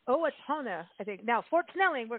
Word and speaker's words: Owatonna: the director of the conventions and tourism for Owatonna and I'm going to find out if I'm pronouncing this correctly but go to the website